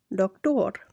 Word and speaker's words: doctor: Spanish words that end in or are stressed on the last syllable. Example, doctor.